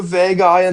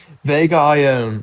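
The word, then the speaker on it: Vega Ioane: And I think they're going to go Vega eyeing on here. I really like him or Vega. I said his name wrong. Vega Iion. Okay.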